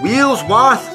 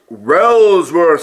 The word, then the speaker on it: Wellsworth: Here we are at Wheelsworth Station. Oh, it's pronounced Wellsworth Station, Nia.